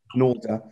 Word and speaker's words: Nalder: was Jill Nalder. Is that how it's pronounced? Yeah. Norda.